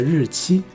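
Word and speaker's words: 日期: 是农历的日期。还有这个日期在台湾念作日期，期念第 2 声，在台湾。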